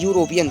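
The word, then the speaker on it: European: जब हम उच्चारण करते हैं तो हिंदी के या युग्म से शुरू होता है, यूरोपियन, तो वो उसमें स्वर नहीं है, व्यंजन है, इसलिए यहाँ पर आंसर ए आएगा, ना कि एन।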